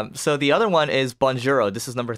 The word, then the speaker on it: Bonjouro: So the other one is Bonjouro. This is number 3, right? Yeah. Yeah. So Bonjouro, it's spelled like bonjour, Bonjour with the O, Bonjouro. So you go to that